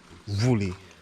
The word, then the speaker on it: Wli: Woolly Waterfalls. That's what I was told that the proper pronunciation is.